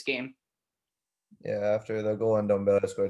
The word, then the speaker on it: Ndombele: Yeah, after the goal Ndombele scored, it's actually Ndombele is his name. Pronounce it right.